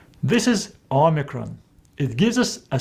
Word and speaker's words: Omicron: it in english No it gives us a sound o as in the word top the next letter is